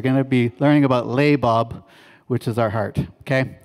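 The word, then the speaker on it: לבב: And the way we pronounce this word is right there. It's labob. Can everybody say labob? Okay, that's loud enough. It means heart.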